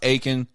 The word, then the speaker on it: Eakin: You got, was it Cody Eakin? Cody? I don't know. Aiken, I think they say his name is. Spelled Eakin, pronounced Aiken.